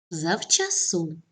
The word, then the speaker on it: завчасно: добре перевіряємо отже босоніж наголос на другому складі завчасно наголос на останньому складі звисока наголос на першому складі